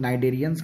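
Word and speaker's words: Cnidaria: एक है कोलिएंट्रा जिसको हम लोग नाइडेरियंस के नाम से भी जानते हैं और दूसरा टेनोफोरा। यहाँ दोनों में सी जो है वो साइलेंट है। सॉरी, नाइडेरिया और टेनोफोरा में सी साइलेंट है।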